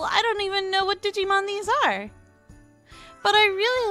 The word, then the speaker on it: Digimon: And next up, we've got a Digimon artwork, not Digiman. Did I seriously just pronounce it that way?